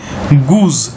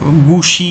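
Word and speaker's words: goose: ঠিক আছে উচ্চারণ হবে গুজ জি ডাবল ও এস ই গুজ ঠিক আছে এটা জ উচ্চারণ হবে গুসি এরকম নয় কিন্তু হ্যাঁ এটা কিন্তু স এর উচ্চারণ হবে না জ হবে গুজ গুজ মানে কি হংস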